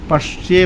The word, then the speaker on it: पश्य: पश्य बोलना है क्योंकि यहां पर लोग खाली ए बोल देते हैं। पश पसे बोल देते हैं। नहीं पश्य पश पर बलाघात लगाएंगे पटक के बोलेंगे। पश ये पश्य इस तरह बोलेंगे।